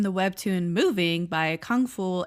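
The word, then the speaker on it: Kangfull: It is adapted from the web tune moving by Kung Fu aka Kungpool. It I guess just depends on how you pronounce it. There is no F sound in Korean.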